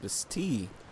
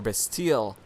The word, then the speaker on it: Bastille: And before we now go to this nest right here, that would take us to the Lost Bastille, or Bastille. I guess there's two pronunciations to that one as well.